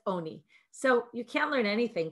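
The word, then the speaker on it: עני: he says it's true it's written as ani but it's pronounced as oni so you can't learn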